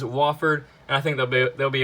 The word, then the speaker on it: Wofford: I think I've been pronouncing him as Wofford, and people have been getting mad at me for that. It is Wofford, and I think they'll be able to beat Arizona State.